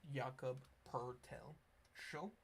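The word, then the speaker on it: Jakob Pöltl: Um and yes there is no R in his name but look at the pronunciation. Yakob Pertel show.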